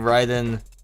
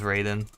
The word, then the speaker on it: Raiden: em up games was raiden trad it's actually pronounced ryden trad but sometimes i say it as raiden because you know in japan it's like it's